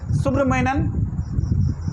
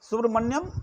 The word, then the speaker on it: Subramanian: एक केस यहां पे लिख भी दिए हैं, सुब्रमण्यन, सुब्रमण्यन स्पेलिंग भी बोल देते हैं, SUBRAMANIAN, सुब्रमण्यन स्वामी, SWAMY, सुब्रमण्यम, मन्यम नहीं, मन्यन है, एन है लास्ट में, सुब्रमण्यन स्वामी वर्सेस मनमोहन सिंह, वर्सेस मनमोहन सिंह।